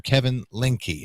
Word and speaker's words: Kevin Lindke: day and that is g to be Mr Kevin linky and Kevin did I pronounce that correctly yeah you did that's uh